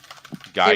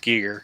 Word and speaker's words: Giger: Reminds me of Giger. Geiger? It really does. Yeah, Geiger. That guy, the girl. No, I think it's pronounced Giger. It probably is.